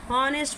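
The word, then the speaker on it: honest: Happiness, खुशी, kindness, दयालुता, ऑनेस्ट, ऑनेस्ट नहीं पढ़ेंगे इसको, ऑनेस्ट पढ़ेंगे। क्या पढ़ेंगे, ऑनेस्ट पढ़ेंगे। क्या पढ़ेंगे इसको, ऑनेस्ट। ठीक है, एच हमारा क्या होता है, साइलेंट होता है।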